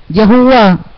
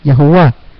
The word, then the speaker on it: Yahuá: Y pues hemos analizado conforme algunas investigaciones bíblicas de algunos hermanos que Yahuá estaría más correcta en la pronunciación del nombre de nuestro eterno y amado padre Yahuá.